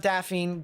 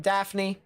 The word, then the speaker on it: Daphne: near fair hope daffy uh not daphene daphne said it right the last stream uh